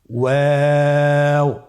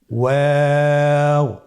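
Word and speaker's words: واو: আমরা স্ক্রিনে দেখতে পাচ্ছি ওয়াও হরফটি উচ্চারণের ক্ষেত্রে বারিক হবে এবং 3 আলিফ টেনে পড়তে হবে। আপনারা আমার সাথে বলুন ওয়াও ওয়াও।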